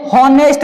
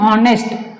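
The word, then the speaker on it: honest: पढ़ते हैं लेकिन ये हॉनेस्ट नहीं है, ठीक है। इसको इसमें जो एच होता है साइलेंट होता है, इसको हम पढ़ते हैं ऑनेस्ट, ऑनेस्ट क्या पढ़ते हैं, ऑनेस्ट, इसको हम पढ़ते हैं ऑनेस्ट, ऑनेस्ट पढ़ते हैं।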